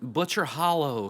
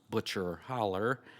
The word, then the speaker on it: Butcher Hollow: wife he was from butcher hollow Kentucky pronounced butcher holler he found a job